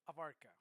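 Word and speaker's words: Avarca: Now, let's go by my last name, Abarca.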